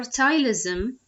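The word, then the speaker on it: ptyalism: content while hypersalivation or tile ism that with the silent P refers to an increase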